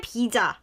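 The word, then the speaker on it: 비자: Bija is just a Korean pronunciation for visa, right?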